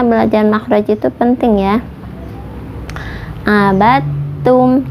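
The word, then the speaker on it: عَبَدْتُّمْ: Abatum, jadi membacanya tidak abadtum, ya, tapi diidghamkan, dimasukkan ke huruf ta.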